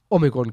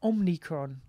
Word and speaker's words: omicron: all of a sudden omigron comes which apparently the correct greek we're pronouncing here is omigron omigron i was calling it omnicron why omni no you